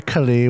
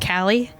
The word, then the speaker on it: Kali: healing him don't worry kali we're safe i have some things to take care of right that's pronounced callie uh i meant to say callie my bad i got